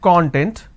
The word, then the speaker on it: content: So we have the word content. I break it into two syllables. When I pronounce this as content, it means ingredient or index. When I pronounce this as that means happiness or being self-satisfied.